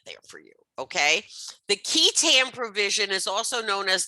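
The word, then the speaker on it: qui tam: it's known as the key tam provision and you'll see it's q-u-i but it's pronounced key k-e-y that's what i put that there for you okay the key tan provision is also known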